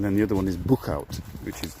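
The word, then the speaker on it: Boechout: the other one is Bookout which is difficult to pronounce if you're not very good in Dutch it's b o e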